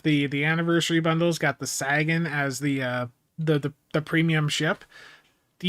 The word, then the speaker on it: Sagan: I need to train myself to say Sagan, not Sagin.